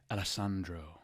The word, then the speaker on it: Alessandro: Oh, how do you say it? Alessandro. Oh. Do you have to roll the R's? You do.